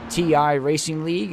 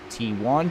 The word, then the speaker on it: TI Racing League: over halfway here with ti Racing League I said it right it's not team won its ti Racing League I didn't I didn't